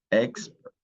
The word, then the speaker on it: expert: it's expert okay expert expert okay exper we put the accent on the first syllable e x x ER